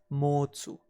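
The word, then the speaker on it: 持つ: To hold or to have is pronounced as motsu, and through inflection it can transform into mochimas or mochimashita, and thus we can easily remember it as too much.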